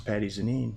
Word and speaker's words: Patti Zanin: and yet said hi this is patty Janine I said oh I've been saying your name wrong yeah you grew up